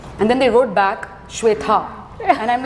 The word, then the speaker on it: Shweta: So one thing people do with my name a lot is they say my name as Sweta instead of Shweta, and I'm like, it's a very common name. Shweta जो है is SHWETA.